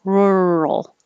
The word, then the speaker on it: rural: tongue's curled back the tip of the tongue is curled back and you hold it there as you say r and then moving from the r to the l is what makes the second syllable rural or you can say rue rule but whatever is easy it's rural rural rural this is an